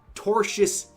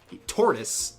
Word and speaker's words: tortious: the legal concept of tortious interference with a contract. He says it in a very funny way. He he has a hard time pronouncing tortious. Tortoise Tortoise interference.